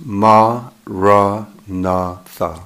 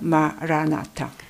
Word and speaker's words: maranatha: You should say it as four syllables, ma, ra, na, tha. 예를 들어 마라나타라 하면 네 개의 음절로 모음이 네 개죠, 마라나타.